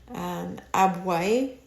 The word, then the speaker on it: Abwoi: And then they also had something called the Abwai initiation rites, and this was something that was prevalent in Nigeria. And Abwai is spelled Abwoi.